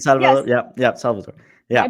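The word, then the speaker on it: El Salvador: ahead, pronounce it. It's Salvador.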